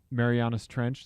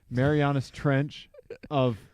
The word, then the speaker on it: Marianas Trench: it the Marianas Trench is that how you pronounce it yeah Marianas Trench yeah sorry Marianas Trench of car that's just outside of st.